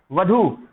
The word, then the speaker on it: वधू: वर लड़का होता है, वधू जो होती है वो लड़की होती है, जिसका सही उच्चारण क्या होता है? वधू होता है दोस्तों।